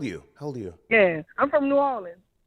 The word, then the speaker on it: New Orleans: The correct pronunciation is New Orleans. But don't they say New Orleans? You sure you're from there? New Orleans.